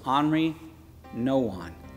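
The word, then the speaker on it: Henri Nouwen: it up you might you might see henry nouwen but i looked up the pronunciation listen to it's henry no one and andre wrote this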